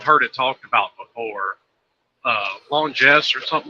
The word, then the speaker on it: Longines: Longines or something like that. Longines. Yeah. Longines.